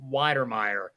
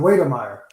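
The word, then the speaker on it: Wydermyer: texas a m jalen weidermeyer and please tell me if i said his name wrong but yeah that's how i pronounce it okay straightforward oh wait i think it's more like waiter meyer but um i'm just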